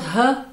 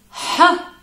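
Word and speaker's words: ح: ha ha it's not her it's not her it's ha ha ha and it's the guttural sound of the regular sound of age huh now actually I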